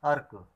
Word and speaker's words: अर्क: और एक बात और है कि जिस अक्षर में लिखी जाती है उससे ठीक पहले पढ़ी जाती है। जैसे कि हम पढ़ते हैं अर्क।